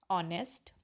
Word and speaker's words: honest: What you have to do in that, the h is silent in words like are, honest, okay, honor.